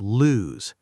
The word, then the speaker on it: lose: So, next time you're not sure, think, does this word rhyme with shoes? Then it's lose. Does it rhyme with goose? Then it's loose.